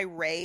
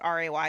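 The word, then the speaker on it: Wray: I think they were trying to be a little tongue-in-cheek with it because it is, what is it? A homophone. Homophone? Yeah, homophone. For El Rey, R-E-Y.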